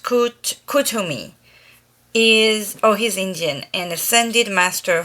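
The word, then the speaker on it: Kuthumi: Pronounced Kutumi.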